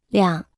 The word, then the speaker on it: 两: 两，两，两，两，两，两，两， Se pronuncia con el tercer tono.